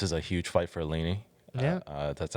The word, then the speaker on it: Aline: This is a huge fight for Aline.